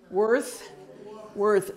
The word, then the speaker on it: worth: The other thing is worth. So don't make this be an S. It's not an S sound. It's a Dallas Fort Worth. Worth. So you're almost like blowing your breath out. Worth.